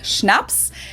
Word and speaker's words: Schnaps: In German, we spell it like this and say Schnaps, and it means hard Schnaps?